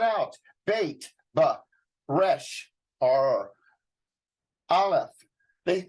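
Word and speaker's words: aleph: bait but Resh are alef they they actually say it's a silent letter and you don't uh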